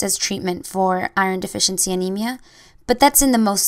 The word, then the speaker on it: anemia: This one's easy. It's actually spelled the same, but it's just pronounced differently.